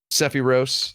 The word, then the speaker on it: Sephiroth: it different every time cepheros is how it is in japanese sephiroth that's what i'm going to call him now forever that's his name let